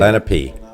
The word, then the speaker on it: Lenape: It's a children's movie, and it was based on an individual, a son who was taken by the Lenape, how do you say? Lenape.